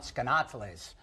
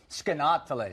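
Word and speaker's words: Skaneateles: Try to pronounce that town, Skanateles is how you properly pronounce Excuse it. me? Skanateles.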